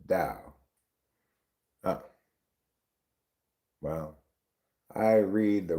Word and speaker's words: Tao: Tao is pronounced with the D sound. Dao.